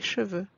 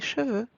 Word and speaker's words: cheveux: Un cheveu becomes des cheveux. Please pay attention to the pronunciation here. As you noticed, we don't pronounce the letter X at the end. X remains silent.